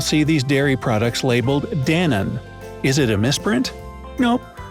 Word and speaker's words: Danone: Before the renaming, lots of customers from the US used to pronounce Danone as two words, Dan and one.